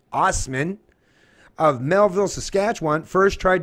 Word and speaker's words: Asman: plate railroad worker David Asman pronounced OSS men Ostman of Melville Saskatchewan first